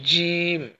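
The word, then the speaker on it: ج: অতঃপর দেখেন বাংলাতে লিখে দিয়েছি জিম, জিম। এই হরফটা একটু মোটা হবে, জিম, জিম, জিম।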